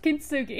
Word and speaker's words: kintsugi: It is how I thought it was pronounced, kintsugi.